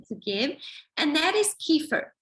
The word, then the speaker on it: kefir: And that is kefir. Kefir or kefir depending how you pronounce it.